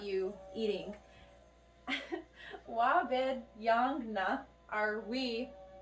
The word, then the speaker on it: yaang: Basically, it's very similar to yaang, me, but it's yaang. You have to pronounce the G at the very end.